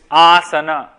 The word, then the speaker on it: asana: third is Asana okay it is Asana not Asana again pronunciation it is aana not Asana even in yoga soim not Pim utana not utk Asana a and what does